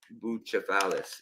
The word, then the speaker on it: Bucephalus: Bucephalus is, I guess, how you would say it in Greek.